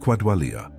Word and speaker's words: qualia: That quality, the felt texture of experience, has a technical name in philosophy of mind, qualia, pronounced quadwalia.